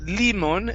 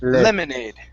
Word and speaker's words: lemonade: words so first up instead of limon limoney lemonade lemonade lemonade there you go very